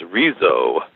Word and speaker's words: Arezzo: of I believe it is pronounced arezzo which is in Tuscany